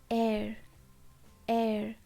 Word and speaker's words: heir: to the throne okay air air h is silent okay so this is